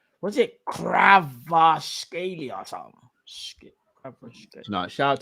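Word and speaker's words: Kvaratskhelia: Was it Kravashkeli or something? No, shout out to Roms. Roms is the only one I know who can pronounce it properly. Here it is. Kravashkeli.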